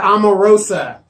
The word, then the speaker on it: Omarosa: Omarosa. It seems like a rotisserie chicken. No. It sounds like a rotisserie chicken.